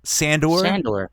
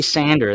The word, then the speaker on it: Sandor: Yeah, Sandor. Sandor. I say said it right. Sandor. Sandor. It sounds like Star Wars. I feel like. Yeah, but if you say Sander, that's like a tool.